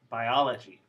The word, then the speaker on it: biology: should change to schwa the lo does change to a schwa but the i in um the first syllable does not the reason why this